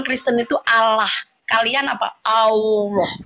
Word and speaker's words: Allah: Allah. Ada wow-nya. Ada wow. Allah bacanya.